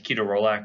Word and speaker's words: ketorolac: You have ketorolac or ketorolac. Most people will probably say ketorolac. The actual correct pronunciation is ketorolac, but most people look at you funny if you say that.